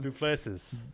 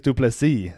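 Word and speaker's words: du Plessis: Duplessis. Dricus Duplessis. The S is silent.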